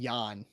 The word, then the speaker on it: Jan: And by the way, it's pronounced Jan. It's a soft J.